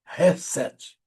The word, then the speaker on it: Chesed: Se escreve Chesed, mas se lê Hesed, que comunica misericórdia, bondade leal e amor comprometido.